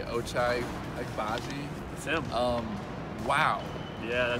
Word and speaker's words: Ochai Agbaji: I want to say Ochai Agbaji.